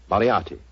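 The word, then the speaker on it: Moriarty: I'm afraid I'll have to begin calling it the way it looks. M O R I A R T Y. Moriati. Moriati.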